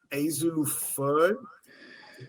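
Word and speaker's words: Azzi Fudd: Azu Fud is how you pronounce her name.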